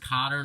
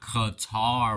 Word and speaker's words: Qatar: qat without you but however this country is pronounced Cotter not Qatar or some stupid name now let's move to